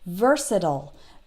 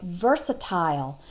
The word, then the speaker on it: versatile: with IL e but American English speakers will tend to pronounce it like I just did versatile that last part sounds like ol versatile but British English speakers might tend to pronounce